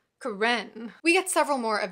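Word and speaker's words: Karen: hinga kitchen in parentheses these last pronounce with the accent on the second syllable it seemed to him ro hanga kichan Carentan we get several more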